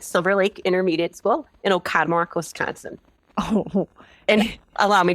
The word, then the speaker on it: Oconomowoc: Can I just say, for regional dialectical purposes, that it looks like there are way more syllables in that name than you are saying out loud. Yes. Oconomowoc, here on the lake.